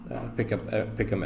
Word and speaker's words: picom: I think it's pronounced picom.